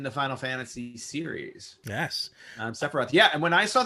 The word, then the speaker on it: Sephiroth: His name is Sephiroth. Sephiroth. I was gonna say Sephora, but I know that's Sephiroth.